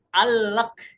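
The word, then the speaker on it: قال لك: Yang pertama kof, huruf kof dibaca hamzah, a. Al kola, jadi dibacanya al. Nah, kola laka kita bacanya alak, alak.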